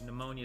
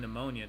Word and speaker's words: pneumonia: Well, the P is silent in pneumonia too, right?